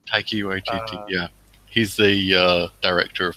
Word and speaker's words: Taika Waititi: How do you pronounce the guy's name? Taika Waititi. Taiki Waititi.